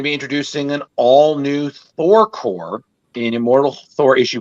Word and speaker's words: Corps: Is it Corps or Corpse? Corps. It's Corps. Corps.